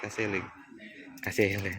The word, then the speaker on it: Gazelle: Ya, jadi tulisannya Gazelle. Tapi bacanya Gazelle gitu ya.